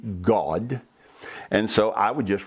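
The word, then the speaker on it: Gad: deity whose name was G-A-D, but it's pronounced G-A-W-D, God.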